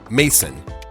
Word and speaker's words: Maison: And I know that that word could be pronounced both ways. So I'm going to say Mason. Cory Mason, 15, who is a biological male and who